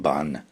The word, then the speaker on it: Padme: The Ni in Om Mani Padme Hum corresponds to the paramita of patience. The Pad, so in Korean it's actually pronounced more like Ban, Om Mani Padme Hum.